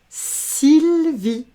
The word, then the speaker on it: Sylvie: Sylvie. Et Sylvie, on ne prononce pas le E, c'est un E muet.